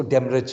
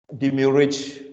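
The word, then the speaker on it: demurrage: ये डेमरेज charges होते हैं, इसको हम इंग्लिश में जैसे मर्जी, लेकिन प्रैक्टिकली हम इसको डेमरेज कहते हैं। डिम्यूरेज भी पढ़ा जा सकता है प्रोनाउंस के, लेकिन डेमरेज कहते हैं, डेमरेज चार्जेस।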